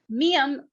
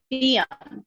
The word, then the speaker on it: 미안해요: It has a lot of changes that are associated with geography, which is why very often miam, which is M sound, becomes biam, which is B sound.